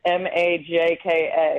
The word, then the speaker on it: Majka: It looks kind of intimidating when you see my last name. It's Majka. It looks like Majka, pronounced Majka.